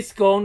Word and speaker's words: scone: Do they not have scones in America, Huey? Aye, but they're not as good. And they say scone like it rhymes with bone, which is just daft.